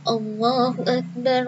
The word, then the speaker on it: Allahu Akbar: Nah, Allah A-nya nggak boleh panjang. Misalnya biar suaranya merdu, bacanya Allahu Akbar. Nah, itu tidak boleh sayangnya.